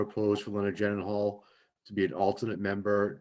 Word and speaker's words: Gyllenhaal: It's pronounced J.I. Gyllenhaal. J.I. It's a Swedish Gyllenhaal.